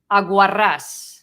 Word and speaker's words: aguarrás: So aguarrás, because it has the accent on the last vowel.